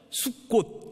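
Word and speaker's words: סוכות: 지낸 것을 기념하는 것입니다 이 초막 이라고 하는 말이 scv 리어 로 발음을 그대로 따라서 하면 수 꽃 이라는 발음이 되요 숙고 슨 이스라엘 백성들이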